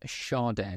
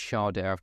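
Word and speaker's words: Schade: run up to this how you actually pronounce his name and found a video of him saying it so I'm quite happy now that it's sharder called him Shard shade all sorts I think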